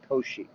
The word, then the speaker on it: Cauchy: at oshi products okay that's pronounced o she Co she okay and I put